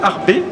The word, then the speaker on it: Arbez: Harb Mathie Harb retenez retenez que le Z ne se prononce pas donc Matthieu Harb en fait a été